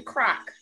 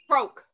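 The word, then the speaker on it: Croak: Croke. Croke? It's not Croc? No, it's C-R-O-A-K. Croke. Croc is a pot.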